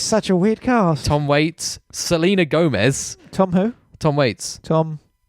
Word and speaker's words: Waits: Tom Waits, Selena Gomez. Tom who? Tom Waits. Tom. Waits. No, you're supposed to say it like waits Waits. because he's waiting.